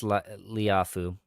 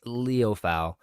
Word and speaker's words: Liufau: Maurice Liafu. I still haven't pronounced his name right. I don't think a Yeah. single time yet. Um, no, Maris Liufau. That's what it is.